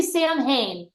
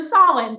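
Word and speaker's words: Samhain: know that holid go I want to say sam Hayne wrong wrong so soln thank you and so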